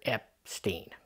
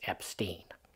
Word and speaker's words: Epstein: and the entire family all of them preferred Epstein that's how they said it uh the grandmother of the family his grandmother said the name is Epstein and that is the correct pronunciation and she